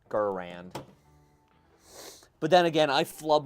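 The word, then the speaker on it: Garand: Well, the way they say the maker said he's own, his name is Gurin. I don't know. I don't know. I'm gonna stick with Gurand.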